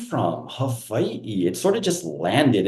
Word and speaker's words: Hawaii: And just for the audience, it's always 3 syllables. Hawaii. That's how you properly say it, Hawaii.